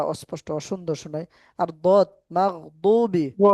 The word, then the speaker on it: مغضوب: তো জি এখন জি দয়াতের উচ্চারণটা কিন্তু দদের মতোই করতে হবে মাগদু মাগদুবি মাগদুব আলাইহিম মাগদুব ওয়ালাদ-দাল্লিন